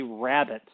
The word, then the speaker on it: rabbet: On either side of the stop, you have what's called a rabbet. It is not spelled like the mammal rabbit, but it's pronounced the same way.